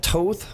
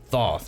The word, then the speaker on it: Thoth: This time we have Thoth, or if you want to pronounce it Thoth.